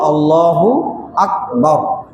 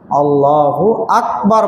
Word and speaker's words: আল্লাহু আকবার: এখানে আমাদের কারো কারো যে ভুলগুলো হয়ে যায় সেটা হলো আল্লাহু আকবার না বলে আল্লাহু আকবার বলে। আল্লাহু আকবার। বাংলা উচ্চারণে ক না বলে সে বলছে গ। আল্লাহু আকবার বলতে হবে।